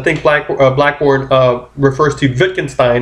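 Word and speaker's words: Wittgenstein: dayart is saying what Vicken Stein is saying cuz I think black blackborne refers to Vicken Stein it's spelled with a W but it's pronounced with a V is saying is that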